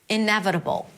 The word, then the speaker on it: inevitable: Primary stress is on n. Inevitable. Inevitable. We begin with an i sound. Iv. It's a v sound and awah. Inev. That's a flap t, so it sounds like a d. B. It's a B sound, a schwa, and a dark L.